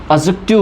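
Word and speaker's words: adjective: तो इस वर्ड को हम एडजेक्टिव ना कहकर, इस वर्ड को हम एडजेक्टिव ना यूज़ करके हम एडजेक्टिव बोलते हैं।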